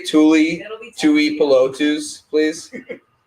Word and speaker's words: Tuipulotu: Tui Tuipulotu.